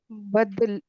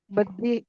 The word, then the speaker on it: बदी: बयान हम इल्म हम बद बदली बदली बदली बदली नहीं है वो लाम नहीं है ये है ये बदी इल्म और इल्म बदी बदी बदी बोलेंगे बदी एक तरह का